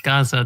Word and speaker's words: Gaza: It's pronounced Gaza, dear. What? Gazer.